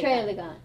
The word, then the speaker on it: très élégant: Kung makikita mo ang spelling dyan sa screen nyo, it's Tres Elegant, but it's actually inspired ng... It's a French word. It's a French word. Très élégant. How do you say très élégant?